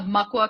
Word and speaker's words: Makwa: that fun stuff yeah so we're just uh mua coffee so Maka is the ojibway word for black bear that's